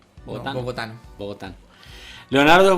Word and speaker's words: bogotano: ¿Bogoteño? ¿Bogotano?